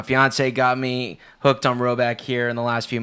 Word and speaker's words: Rhoback: polos yeah you can you can go to row back calm it's spelled rh o ba ck and you'll get